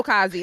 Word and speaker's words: Kazi: Yeah, no, it's Kazi.